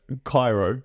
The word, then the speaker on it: Kiaro: Is it, I was going to say, is it like Kiaro? It's Kiaro.